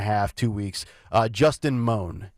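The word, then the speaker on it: Mohn: two weeks uh Justin moan m o hn I believe is how you say the last name the guy with the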